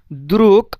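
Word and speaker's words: друг: দ্রুক আসলে এটা উচ্চারণ দ্রুগ হওয়ার কথা, বাট দ্রুগ না হয়ে দ্রুক হয়েছে। তো ভিয়েরনি দ্রুক, বিশ্বস্ত বন্ধু।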